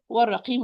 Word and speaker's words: والرقيم: If I continue citation, hamza loss is going to be dropped. The lam is not going to be pronounced. So I move from the waw with fatha to the ra with shadda and fatha. Warra, warra.